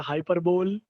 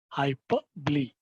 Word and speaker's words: hyperbole: Many people pronounce it as a hyperbole, but the correct pronunciation is hyperbole.